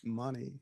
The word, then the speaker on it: Monte: Money. Yeah, that's how they say it. Money.